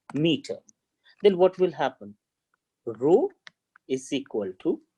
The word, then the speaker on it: rho: What is its pronunciation? R-H-O, rho.